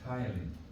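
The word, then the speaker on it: ptyalin: The P is silent. You don't pronounce the P.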